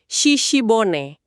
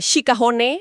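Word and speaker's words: 鹿骨: Shishibone. Saya baca di sumber bacanya emang gitu ya. Shishibone bukan eh shikahone atau gimana gitu. Betul bacanya shishibone.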